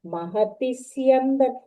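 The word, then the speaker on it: महति स्यन्दने: महत्तिस्यन्दने स्थितौ There, for Sya, you have to give Dvitvam, not for Takara. Mahatisyandan. Okay. Mahatti, after T, Mahatis, that sound.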